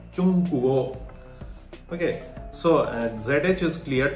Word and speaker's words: 中国: Okay, so we learned that ZH is pronounced just like you pronounce the DGE in judge. Okay. And the tip of the tongue should be on the roof of the mouth. Okay. And by the way, Chungkuo means China. Okay. And you already know that G is pronounced like K. Okay. That's why Chungkuo, Chungkuo.